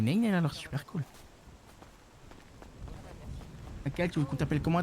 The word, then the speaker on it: Kael: Ça s'écrit comment, un K et un L? K-A-E-L. là. Ah, c'est cool, c'est cool. C'est bien, c'est un peu comme Maël. Ouais, mais avec un K.